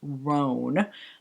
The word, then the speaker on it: Rhone: And then the next one is Rhone. That's what I was told how to pronounce it, which I do appreciate it.